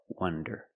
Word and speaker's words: wonder: Wander with the open sound, ah, wah, wander, and wonder with the closed sound, wonder.